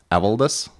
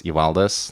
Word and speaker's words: Evaldas: So, for example, my first name, the Lithuanian way to pronounce it is Evaldas, and yet that's not as easy for people as Evaldas.